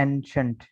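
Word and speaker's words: ancient: ये जो वर्ड है इसे पढ़ा जाता है एंशंट, ठीक है। CI की आवाज़ जो है वो शीन की आवाज़ बन रही है।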